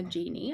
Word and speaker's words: Genie: So, um I also have been calling her Genie. I'm pretty sure that's how you pronounce it.